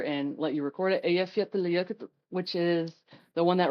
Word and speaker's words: Eyjafjallajökull: Eyjafjallajökull, which is the one that wrecked all the air traffic in Iceland.